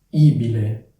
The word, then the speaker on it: ibile: la cosa importante è Ricordarsi che la vocale è accentata quindi è abile ibile come dicevo questo suffisso